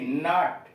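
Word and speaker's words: knot: के एन ओ टी, नट, गांठ, के एन ओ टी, नट, गांठ। अब ये यल पर, यल साइलेंट कहाँ कहाँ, पी ए एल M, palm, यल silent है इसमें।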